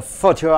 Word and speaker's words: photo: But before, earlier, it was the photo albums only memory the people used to have a look at their family. See here, a short talk on photo album. Photo, PH is pronounced as F, photo.